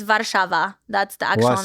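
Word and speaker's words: Warszawa: that how you pronounce is that how you pronounce it in Polish it's well it's vava that's the actual name vava so is American Way translation yeah vava I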